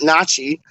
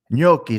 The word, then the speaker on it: gnocchi: Not nachi. It's gnocchi, isn't it? Like the potato dish, like the like potato gnocchi dumpling dish. Gnocchi, the G silent.